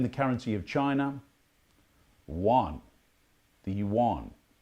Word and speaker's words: yuan: Yuan. The yuan. It's pronounced. I think it's written Y-U-A-N, but if you listen carefully, they sort of pronounce it with a U at the start, but if you just